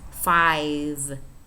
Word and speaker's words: five: Make sure you're pronouncing the final V. It's not the 95 like the restaurant, okay, or whatever. I don't know what. There's something fi that people say. It's five. Five. Grove, glove.